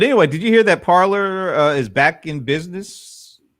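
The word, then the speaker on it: Parler: parlor actually you know you think it would have been spelled like that but it's p-a-r-l-e-r i don't know is that some kind of cool way of spelling parliament i don't know but anyway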